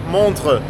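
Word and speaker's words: Montreux: کهه رسیدیم به شهر مونترو یا به تلفظ خودشون مونتغ بریم که این شهر نقلی کوچولو موچولوی بامزه رو کشفش کنیم.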